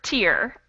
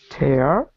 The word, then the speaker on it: tear: for both of them does anyone know the difference in pronunciation between the first and second word no i don't know so i heard a good pronunciation of the first word tear what about the second word tear tear yes tear and tear exactly so the vowel sound changes all right do you